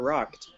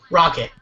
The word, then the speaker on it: Rocket: Is it pronounced Brand Rocket or Rocked? Rocket. Oh, okay. Yeah. I wanted the actual word rocket, but it was taken.